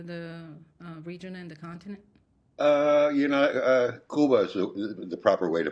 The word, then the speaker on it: Cuba: Cuba is the proper way to pronounce it, by the way.